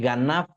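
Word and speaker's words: גנב: hebrea que es la palabra gan, así, ganaf con f al último, g acento en la a.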